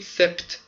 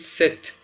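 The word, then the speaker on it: sept: ببینید ده بود دیس، ست هم چه بود هفت، یه ها هم ست هفت، پس میشه دیست دیست دیست دیست دیست میشه. این پی بچه ها خونده نمیشه و نگید سپت، بگید ست ست، پ سن و صبح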